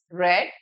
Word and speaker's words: read: Here, please remember the past tense of read is also same spelling, but it is pronounced in a different way. Past tense of read is read.